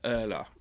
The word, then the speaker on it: Urla: I'll say the name of the restaurant wrong, but it's URLA, so Erla, and that was one